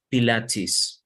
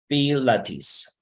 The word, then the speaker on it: Pilates: Okay, so this is pronounced just like very similar to Spanish, Pilates. Pilates.